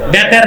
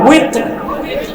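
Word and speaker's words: وتر: বেতের না, উইতর। এটা আলেমরাও ভুল উচ্চারণ করে, মুসল্লিরা ভুল শিখে। বেতের, বেতের, বেতের কি? উইতর।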